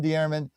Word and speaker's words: Dearman: Dear, you're very close. It's dear. It's very hard to pronounce. Dear. Okay, good name. Dear. Dearman.